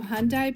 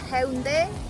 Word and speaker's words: Haeundae: The name is Haeundae Beach, and it's a similar like Hyundai car.